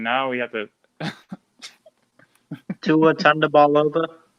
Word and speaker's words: Tagovailoa: We just figured out how it's pronounced to his last name, and now we have to Tua Tagovailoa. Tagovailoa.